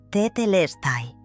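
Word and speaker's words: Tetelestai: Tetelai se pronuncia tetestai. Con énfasis en la tercera sílaba.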